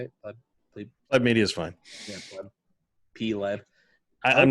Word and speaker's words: Pleb Media: Pleb Media is fine. Yeah, Pleb. I'm not that picky about it. Everybody pronounces it different and always worries that I get offended.